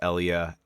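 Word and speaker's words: Elea: I believe the more common pronunciation is Elia Eliatics.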